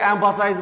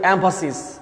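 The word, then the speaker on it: emphasis: উই all should give এমফাসিস dash, এটা কিন্তু অনেকে এমফাসাইজ বলে, শব্দটা খেয়াল রাখবে, শব্দটার উচ্চারণ কিন্তু এমফাসিস, মানে কি?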